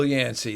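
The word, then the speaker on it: Yancey: think about that one this author his last name rhymes with Clancy it's not it rhymes with Clancy it starts with a y Phil yansy there you go Philip yansy there it is one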